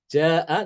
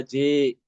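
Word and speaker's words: جاء: Ja'a dibaca ja'a yang tidak dibaca ji ya, seperti Ibnu Dakwan ya kan.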